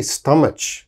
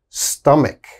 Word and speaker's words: stomach: There's a CH, so they say stomach. Oh, please don't say stomach. Never say that. It is always stomach, stomach. Strong K sound here.